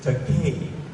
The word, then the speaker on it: Takei: It's Takei. To help you, I'll give you a rhyme. It's Takei. It rhymes with toupee.